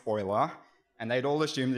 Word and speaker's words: Euler: uh to Margaret and Paul Oiler that's oer spelled EU l e r as with